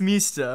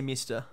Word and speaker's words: Mista: no but that's it it's technically pronounced Mista or whatever because it's yeah I think in the dub they say mister that's literally a rocky